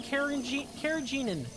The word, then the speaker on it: carrageenan: They boiled red seaweed into carrageenan. Yeah, that sounds right. I looked up the pronunciation to be sure that I was saying carrageenan correctly.